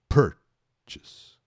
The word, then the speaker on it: purchase: ises Felipe não conhecia atenção aqui é para a pronúncia de purchas outra pegadinha também ó lá per a a tônica é a primeira per chess e nada de Chase que também é um negócio que eu ouço muitas vezes e o